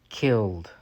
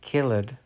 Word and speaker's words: killed: row in this word the E is silent killed we do not say kill it but it's just killed lifted the last letter